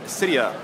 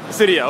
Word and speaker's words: Cydia: and we're with Sark the famous creator of Cydia no is it cyia or cidia what do you prefer uh it's a Cydia Cydia okay excellent that's like the burning question that